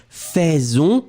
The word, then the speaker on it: faisons: Nous faisons, you pronounce it like f, but you will write it AI. Faisons will be pronounced faisons.